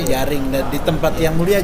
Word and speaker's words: Jering: Dan penulisan Yaring di Patani itu jering memang. Bacanya Yaring, dan di tempat yang mulia Jirieng ya, kurang lebih.